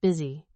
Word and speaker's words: BSY: The ticker symbol they chose, BSY, pronounced busy, a winking acknowledgement of